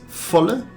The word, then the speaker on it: volle: The V in German is almost always pronounced as an F sound, so it's volle. Then the most hilarious word, fart.